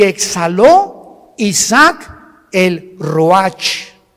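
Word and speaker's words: ruach: y exhaló Isaac el Roach así como suena se pronuncia la Cia en hebreo como jota roja se les halló y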